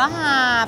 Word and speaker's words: หาบ: ชิ้น ค่ะ 7 ชื่อ ร้าน อ่าน ว่า อะไร นะ คะ หาบ หาบ อ๋อ อ่าน ว่า หาบ ทุก คน ร้าน หาบ ขนม ไข่